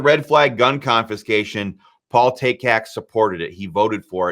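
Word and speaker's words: Takac: pronounce that again but then I remember it rhymes with Taylor Swift takak Paul takak is most certainly not in favor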